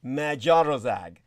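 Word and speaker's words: Magyarország: uh of course uh hungary would be magiarozag so yeah i can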